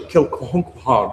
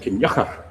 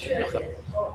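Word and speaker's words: Kilconquhar: It looks like Kilcohonquhar, doesn't it? It's pronounced Kinyachar, by the way. So, yes, Kinyachar.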